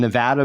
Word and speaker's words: Nevada: me then as settled as we are on Nevada being the one true way to pronounce our own State could this pronunciation of